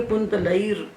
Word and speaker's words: कुंतलैर्: वो जो रेप जहाँ बैठा है ना उससे उतर जाए, उतर के अपने पहले वाले के साथ मिल जाए। जब हम उच्चारण करेंगे तो ऊपर से उतर के रेप पहले वाले के साथ मिल जाएगा। तो जो कुंतलई लिखा है उसको हम बोलेंगे कुंतलैर्।